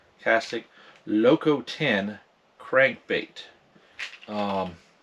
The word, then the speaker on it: Castaic: one is the original castic castaic so how you pronounce that c-a-s-t-a-i-c castig loco 10 crank bait